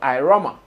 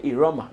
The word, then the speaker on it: IRAWMA: an international award scheme called iroma some people also say Aroma based on how you want to pronounce it Aroma or iroma that is International Reggae